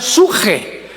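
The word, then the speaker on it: ψυχή: S de Samuel, suche, que en el hebreo se pronuncia suje, porque la CH se pronuncia en hebreo como J.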